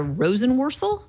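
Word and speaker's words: Jessica Rosenworcel: and then I'm going to need Larry's help pronouncing her in last name commissioner Jessica Rosen worel that's perfect exactly right wonderful she she at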